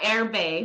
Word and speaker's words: Erbe: about um she's the CEO of is it Irby wealth I have to make sure yeah air Bay well everybody well thank you for the for